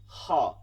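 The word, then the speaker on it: خاء: খ, এটাকেও করতে হবে, বাংলায় খ থাকা সত্ত্বেও করতে হবে, কারণ আমরা বাংলা খটা আমরা ঠিক মতন করি না উচ্চারণ। খ, এটার মধ্যে চলমান থাকবে, খ, খ, ঠিক আছে, ঘষতে হবে, খ।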